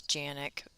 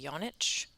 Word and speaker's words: Janik: And my last name is Janik. That's how it's said in the United States, but it's actually Yonich, which is Croatian.